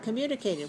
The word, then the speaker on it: communicated: the student what communicated how many syllables are in the word communicated five right communicated where's the stress communicated two five two write five syllables stress the second syllable communicated by raising his